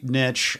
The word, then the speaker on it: niche: niche yeah um which i know it's pronounced niche but that is a defiance that i just cannot it may well be the hill that i die on i say nitch i say bona fides